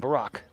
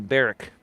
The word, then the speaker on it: Barack: respect to Michelle and Barack and I remember George Bush used to call him Barrick Barrick well they used to